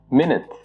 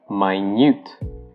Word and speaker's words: minute: But if you're using the adjective form of this word, you pronounce it as minute. So the I becomes an I, and the U becomes a long U.